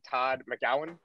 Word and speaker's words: Todd McGowan: is the first time i'm meeting todd uh todd mcgowan is that pronounced that's right yeah okay i see i